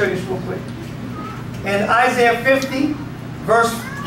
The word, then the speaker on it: Isaiah: you'll still hear it Isaiah Zachariah so whenever you see the I a at the end of a name it always pronounced as the yah Jeremiah Zachariah Obadiah Saints